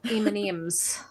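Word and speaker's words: M&M's: I have M&Ems, as the Aussies would say.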